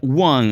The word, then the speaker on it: won: Esta palabra se pronuncia won, así como el número.